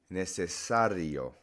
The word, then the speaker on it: necesario: The next pattern, necessary, necesario. Dictionary, diccionario. So that stress is on that A towards the end.